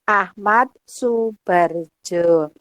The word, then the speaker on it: Ahmad Soebardjo: oleh Ahmad saebani Jo Ahmad Soebardjo tulisannya ya dibacanya Ahmad Soebardjo Oke terima kasih Mbak